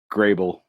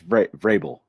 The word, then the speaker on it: Vrabel: Vrabel, I can never pronounce his last name. The coach for the Titans. Grable. Grable. Oh, okay. I thought it was Vrabel or something with a V. Oh yeah, it's Vrabel.